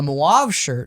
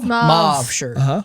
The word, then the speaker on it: mauve shirt: being in any danger a moab shirt and i don't think i'm pronouncing that right mauve shirt is that someone who's